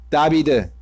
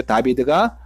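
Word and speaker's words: דוד: 보통은 마겐이 방패고 다비드, 이게 이제 다윗의 히브리 발음이죠. 다비드가 다윗입니다.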